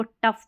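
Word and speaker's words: tough: टॉफ पढ़ दे, नहीं, इसको टफ पढ़ना है, टफ। OU को यहाँ अ पढ़ा जा रहा है, टफ, और GH को तो फ।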